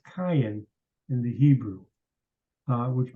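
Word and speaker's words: קין: name is not spelled Kane it's spelled it's pronounced Cayenne in the Hebrew uh which means something completely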